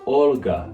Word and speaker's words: Olga: the latin alphabet but it means the l before it should be pronounced softly that means that in russian this name should be pronounced more olga than oligarch it's a